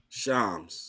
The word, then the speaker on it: Shams: How do they pronounce his name? Shams.